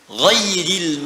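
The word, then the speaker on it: غيرِ: Qara'al jumhuru ghairi bil jar. Mayoritas ahli qiraat membacanya menggunakan kasrah, ghairi, i.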